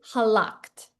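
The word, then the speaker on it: הָלַכְתְּ: This is halakta. Halakt. Okay? Halakh't. This is the verb Halakh, meaning to go or walk. And it has the suffix atav with the little simple shva.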